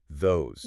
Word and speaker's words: those: It rhymes with nose, not dose.